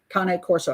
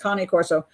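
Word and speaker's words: Cane Corso: Shepherds the K Corso Kane Corso I guess it's pronounced cone corso and the little one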